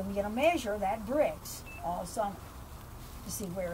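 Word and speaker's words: Brix: sugar will go up sugar is called bricks and it's spelled b r iix and measured in degrees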